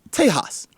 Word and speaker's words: Tejas: We had a Castro in this race, a Latino from Texas, or as Mayor Bloomberg said, Tejas, which is the proper way to say Texas in Spanish, but it just sounds weird when Mayor Bloomberg said it.